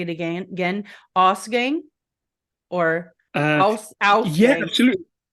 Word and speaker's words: Ausgang: guest, Mark of, and let me hope I'm pronouncing this correct. You just said it right now, but I'll say it again. Ausgang or Ausgang. Yeah, absolutely. Ausgang is the way I personally.